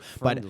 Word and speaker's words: FRNDLY: And you'd probably think Friendly has vowels and is spelled the normal way. It's FRNDLY, and it's got that Hulu green, baby. You could almost mistake it as Hulu. Friendly.